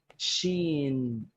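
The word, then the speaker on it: شين: Okay, the fourth, which is quite similar, Sheen.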